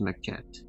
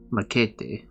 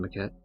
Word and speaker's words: Maquette: Um, you could pronounce it like Maquete, which is obviously not how it's pronounced because there's no way in fuck that's Spanish, and also it wouldn't be spelled like that if it was Spanish.